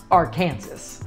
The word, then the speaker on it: Arkansas: over 70 feet above the convergence of the Arkansas and little Arkansas Rivers yet in Kansas it's pronounced Arkansas the keeper a steel structure was created by